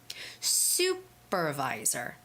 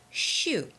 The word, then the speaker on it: supervisor: Sue The Curly Sue supervisor supervisor so Korean students out there do not say Sho it's not shoe like your shoes it's not shoe it's Sue supervisor supervisor okay now please